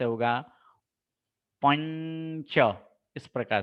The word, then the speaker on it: पंच: च वर्ग के 5वें अक्षर छ, छ, ज, झ, ञ, यानी इनका उच्चारण इस प्रकार से होगा, पंच, इस प्रकार से पंच।